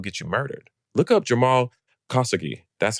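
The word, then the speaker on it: Jamal Khashoggi: Look up Jamal Kasugi. That's how you pronounce it. K H A L S O G G I. Kasuki.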